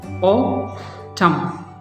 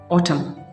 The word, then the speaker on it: autumn: जैसे कि आप देखें autumn, autumn, autumn, autumn. This is not here, N की sound is not there.